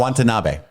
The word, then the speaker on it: Watanabe: Watanabe.